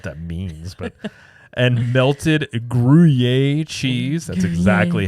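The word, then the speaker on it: Gruyère: even know what that means but and melted guier cheese that's exactly how you say it that's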